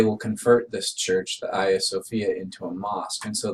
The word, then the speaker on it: Hagia Sophia: Actually, on the right, we have the Hagia Sophia, sometimes pronounced Hagia Sophia, but the Hagia Sophia is one of the most important churches in the history of the world.